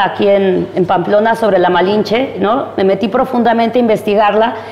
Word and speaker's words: Malinche: pero como los indígenas los españoles no podían pronunciar malinche Entonces le dijeron le dijeron malinche y ahí está la malinche entonces Marina o o